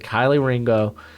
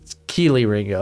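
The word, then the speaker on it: Kelee Ringo: get everyone got all butt hurt that said kylie ringo in my in the uh when i was talking about dame broogler's top 50. keeley ringo okay i got it cool pronoun mispronunciation's a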